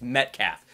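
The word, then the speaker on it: Metcalfe: If you saw my spoiler free, I could not pronounce his name. It's Metcalf.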